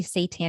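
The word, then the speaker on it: seitan: and I wanted to mention when we say Satan it's spelled s eii t an for people listening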